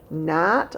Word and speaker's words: gnat: as many of them remember the g is silent have you ever had a little gnat a tiny fly flying